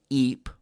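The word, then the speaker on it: Ypres: battle of the marn the battle of eep that's spelled y p r e s you just call it eep verdun and the battle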